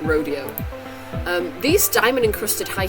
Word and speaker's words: Rodeo: In in Beverly Hills they say Rodeo Drive right that's how they pronounce it I know normally I would see that word with think Rodeo um these diamond encrusted